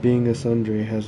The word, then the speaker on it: tsundere: In Japanese, it is said as tsundere, tsundere.